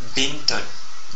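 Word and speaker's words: بنت: bostanon bostanon c'est-à-dire jardin la troisème voelle courte et la Kra donc c'est une petite barre donc comme la fatha mais qui s'écrit au desessous de la lettre B donc et ça nous donne le son comme bint bon qui veut dire une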